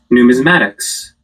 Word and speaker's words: numismatics: it probably took me a whole year numatics numismatics learn how to pronounce practice here let's watch it together I